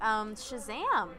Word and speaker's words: Shazam: original idea but yes Shazam I like you gotta say you have to say it like that because the kind of exclamation point it's similar to